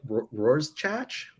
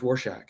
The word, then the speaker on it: Rorschach: i read it and i i was like roars chach i might have like said it to to like a a parent or uncle or something who was like oh it's pronounced rorschach and i don't know okay okay okay i